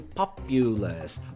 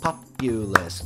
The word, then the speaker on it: populous: China populous and country listen carefully populace populace 3 syllables and so we're going